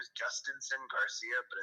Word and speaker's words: Jhostynxon: His name is Justinson Garcia, but it's spelled. Okay. I can look at it. Yeah, his first name is spelled JHOSTYNXON, and then Garcia.